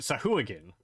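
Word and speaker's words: Sahuagin: it right stop walking then the game they pronounce it sahu again I'm pretty sure uh but no it's pronounced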